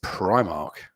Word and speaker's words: Primark: How do you pronounce the store that sells really cheap clothes that goes Primark? It's Primark.